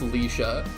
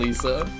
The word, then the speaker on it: Leisha: Google says it's pronounced Leisha. Are y'all impressed that I got that? I was pretty close with Lisa.